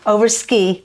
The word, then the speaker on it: Overskei: Am I pronouncing your last? Overskei. Overskei. I always think of you over the sky because you're just one of those people. But it's Overskei.